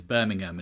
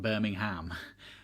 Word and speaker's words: Birmingham: And side note for all the Americans watching this, it is Birmingham, it is not Birmingham. But also, it's not Birmingham, Alabama. That's what I'm saying. Birmingham, not Birmingham. Hey, you guys pronounce it wrong.